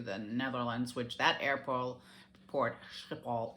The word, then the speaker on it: Schiphol: Netherlands, which that airport, Schiphol is how they pronounce it, Schiphol, is supposed to be a hot mess.